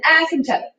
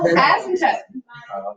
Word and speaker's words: asymptote: When you actually put the emphasis on the first 2 letters, it's an asymptote. Oh, asymptote.